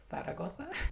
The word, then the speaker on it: Zaragoza: to visit today is zagosa or in Spain it's pronounced thoa thoa is the capital